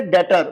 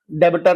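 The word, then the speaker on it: debtor: अब तीसरी टर्म आती है डेटर। बच्चों बी साइलेंट होता है। डेबिटर नहीं बोला जाता इसे।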